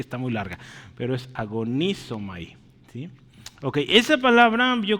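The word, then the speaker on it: ἀγωνίζομαι: Agonizamai. Perdón, agonizomai, ¿sí? El acento está en la I, ¿sí? Entonces, agonizomai, ¿sí? Agoniza. Ahí está difícil, ¿verdad? Es que está muy larga, pero es agonizomai, ¿sí?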